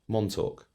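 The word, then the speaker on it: Montauk: How do you spell it? M O N T A U K. Montoque.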